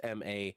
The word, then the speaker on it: Manas: it's it's the actual name is man ass m-a-n-a-s-s and then it's i think it's in turkey